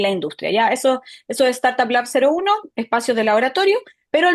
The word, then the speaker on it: StartupLab.01: me aclaraste la duda, se pronuncia el cero, Startup Lab 01, y después viene el 02, 03.